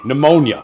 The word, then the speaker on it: pneumonia: of the p word the p word silent P pneumonia oh oh the toxicology